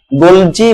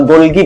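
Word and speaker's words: Golgi: আচ্ছা এখন একটা প্রশ্ন গোলজি বস্তু বা গোলগি বডি তুমি যেটা ইচ্ছা সেটা উচ্চারণ করতে পার এটা উচ্চারণ যদি গোলগি করো তাও হবে গোলজি করো তাও হবে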